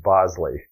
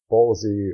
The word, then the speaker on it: Bolsey: Now, I know for sure it is not pronounced Bosley. You'll hear some people call it a Bosley, but if you look at the spelling of the camera, it is clearly Bolsey or Bolsey.